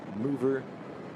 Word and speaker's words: Muuver: So it's spelled MUUVER, Mover.